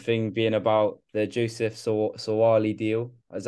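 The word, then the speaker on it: Suaalii: the most recent thing being about the Joseph sawali deal that's how you say his name um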